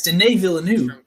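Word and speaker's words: Villeneuve: Cuz I think is it not D Villanu? Yeah, I think so. It's like French. Yeah, it's D Villanu.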